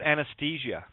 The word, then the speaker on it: Anastasia: Can we repronounce that properly, just so people know what it's really about? It's about anesthesia.